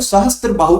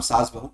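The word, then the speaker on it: सहस्त्रबाहु: ठीक है, अब इसका सहस्त्र बाहु का हम क्या बोल सकते हैं, एक तरह से मिस प्रोनाउंसिएशन के कारण इसका नाम सास बहू टेंपल पड़ गया।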